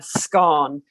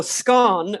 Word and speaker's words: scone: And I think it's important to say that if you're going to make a scone, you should pronounce it correctly. So scone rhymes with dawn, not with bone.